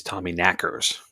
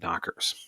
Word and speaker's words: Tommyknockers: are saying this wrong the correct Cornish pronunciation is Tommy knackers instead of knockers right the term is